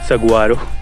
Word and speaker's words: Saguaro: Spelling में actually it's Saguaro, SAGUARO।